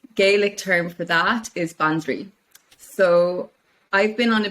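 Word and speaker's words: bandraoi: would call in Irish bandri. So it's ban, B-A-N, dri, D-R-A-O-I, pronounced dri, like D-R-E-E.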